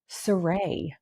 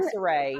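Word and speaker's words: Sarae: I'm Saray. I'm Saray because my name is Ray. Yeah, and it's the R-A-E. R-A-E, so I say Saray.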